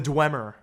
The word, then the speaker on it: Dwemer: Like it's spelled DW. Oh, the Dwemer.